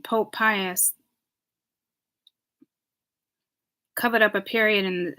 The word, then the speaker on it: Pius: was seeing the Holocaust and it's saying Pope Pius covered up a period in in World War